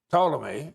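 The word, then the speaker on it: Ptolemy: Tommy and the T is silent but Totle Liy who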